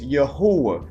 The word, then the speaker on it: Yahuah: or characteristics of hisself but his name is yahwa all right we should seek out his name